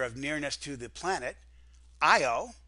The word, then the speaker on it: Io: nearness to the planet IO it's spelled and pronounced the same way I owe I owe Europa these are both